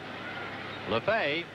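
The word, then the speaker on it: Lefebvre: Jimmy Lefevers the Joe has it laughs a LeFay at 3:06 with eight home runs and 39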